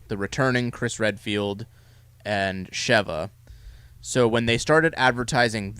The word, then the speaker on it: Sheva: So you had Chris, the returning Chris Redfield, and Sheva. So when they started advertising this game, It's not Shiva. I think it's pronounced Sheva.